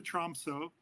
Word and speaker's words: Tromsø: then I went to Tromsø, Troms, I guess if you pronounce it correctly, Tromsø.